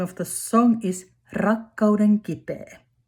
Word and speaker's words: rakkauden kipeä: And then the last competitor Kiki and name of the song is rakkauden kipeä. Remember to roll your roll. Roll your R.